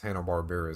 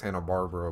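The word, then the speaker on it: Hanna-Barbera: morning cartoons that was Hannah barar time like that's where they shined Hannah Barbara Barbara however you want to say it I've heard it pronounced both ways I'm pretty sure it's Hannah Barbara but yeah so one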